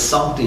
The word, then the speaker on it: Sancte: John is Sancte Johannes. It is not si, it's sa.